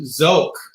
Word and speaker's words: Sook: I don't know, I'm pretty sure it's pronounced Zook originally, and it was abbreviated from something like, something like that.